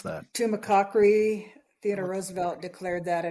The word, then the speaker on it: Tumacácori: I was wondering how to pronounce that. Tumacácori, Theodore Roosevelt declared that a national monument on September 15th of 1908.